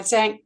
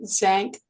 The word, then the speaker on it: Zan: Her latest book, Zan, a collection of short stories, is published in 2024 by Zank Books and was the winner of the 2022 Zank short collection prize.